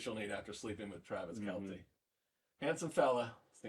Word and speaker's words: Travis Kelce: Travis Kelce, you are such a fan.